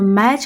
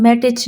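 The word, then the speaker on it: match: तो मैच का जो टी सी एच है देखिए हम मैटच नहीं बोल रहे। इसमें टी हमें सुनाई नहीं दे रहा। तो टी और सी और एच ये तीनों मिलके च की आवा यहां पे दे रहे हैं।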